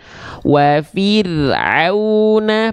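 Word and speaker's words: وَفِرْعَوْنَ: Maka di sini kita baca wa fir'auna, pastikan dari tengah tenggorokan.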